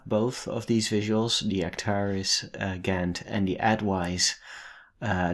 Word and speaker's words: Acterys: to the application called actaris actaris am I saying it correctly actaris so we're going to